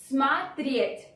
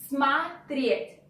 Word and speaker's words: смотреть: Since O, which goes after M, is not stressed, we pronounce it like A. Смотреть, смотреть.